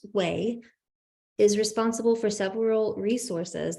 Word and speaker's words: WAI: So the W3C's Web Accessibility Initiative, or WAI, which we pronounce WAI, is responsible for several resources that help us make the internet more accessible, such as WAI ARIA and WCAG.